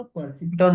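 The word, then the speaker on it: perceptron: तो अच्छा, पता है तुम लोग को एक न्यूरॉन को ना परसिपिटॉन भी बोलते हैं। परसिपिटॉन की क्या प्रोनाउंसिएशन पता नहीं, बट वो बोलते हैं ऐसा परसेप्ट्रॉन।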